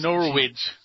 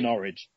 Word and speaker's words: Norwich: She said, it's Norwich. Yeah, and so she corrects them by saying, think of porridge, that's right. It's Norwich.